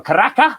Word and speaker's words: Caracas: the portivo medellin against caracas so caracas or karaka as they would say without the s pronounced in venezuela uh caracas is a